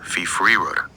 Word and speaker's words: fyfyriwr: "Dw i yn fyfyriwr." "Fee fur rug."